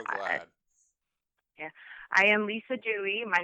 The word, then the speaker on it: Duez: here I'm so glad yeah I am Lisa Dewey my name is spelled d-u-e-z but it's uh pronounced Dewey it's a strange little Quirk I'm in private